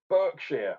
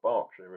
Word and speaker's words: Berkshire: Brewed and canned at Siren Craft Brew, Finch Hampstead, Berkshire, or Berkshire if you know how to say it properly.